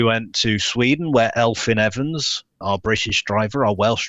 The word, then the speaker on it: Evans: And then we went to Sweden, where Elfyn Evans, our British driver, our Welsh driver.